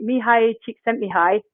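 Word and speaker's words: Csikszentmihalyi: Well, as many of you know, I'm a scientist, so I've actually um read the flow book, which is Mihi, Mihi Chik sent Mihi.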